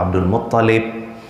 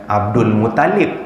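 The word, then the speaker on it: عبد المطلب: Abdul Muttalib, dia punya T tu yang double, bukan L.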